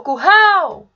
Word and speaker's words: curral: O curral! Percebam que eu me alonguei mais na última sílaba, no hal.